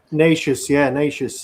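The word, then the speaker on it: Nečas: Nacious, Marty Nacious.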